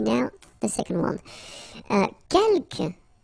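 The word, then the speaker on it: quelques: Uh keelk you don't pronounce the final s here. Kelk means few.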